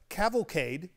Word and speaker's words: cavalcade: Cavalcade.